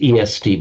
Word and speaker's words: est: The written as est but pronounced just e in French directly ex written exactly the same way as the Latin and cognate with the Sanskrit estee.